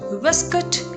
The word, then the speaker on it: waistcoat: So how will you say it? Waistcoat? No. Waistcoat. Waistcoat is the correct pronunciation. Although it's an American way of saying it, but it's more acceptable and more popular this way.